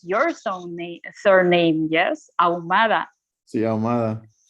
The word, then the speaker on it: Ahumada: of people, for them, it's more difficult to pronounce your surname. Yes, Ahumada. Sí, Ahumada. How would it be in English? Like, how they pronounce it? Ahumada. They pronounce it Ahumada, Ahumadada, Ahamahumahuma.